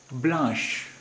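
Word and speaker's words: blanche: Masculine singular, इसका उच्चारण है ब्लां। फेमिनिन सिंगुलर है, इसका उच्चारण है ब्लांश, ब्लांश, ब्लां ब्लांश सफ़ेद।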